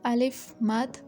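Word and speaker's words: آ: this sign mud and when you are pronouncing alif mad uh you have to stretch as compared to a leaf just this is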